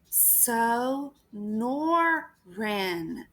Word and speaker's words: Sonoran: crew of boys snickers so nor wren ben pronounces the word slowly it's the name of the desert around where i lived in tucson so norren snore ring